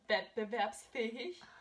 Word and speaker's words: wettbewerbsfähig: So it's pronounced wettbewerbsfähig.